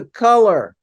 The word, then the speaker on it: Kulur: he moved on to color color is spelled KL you are and has a very